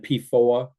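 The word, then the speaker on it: PFOA: people will remember and pooa reminds you it will rhyme with lawn MOA or Noah so pooa and posos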